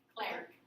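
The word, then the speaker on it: Clerc: His name, Clerk, is how you say it.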